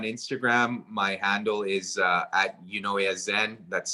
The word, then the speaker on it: Eunoyazen: My handle is at Unoyazen. That's spelled EUNOYAZEN.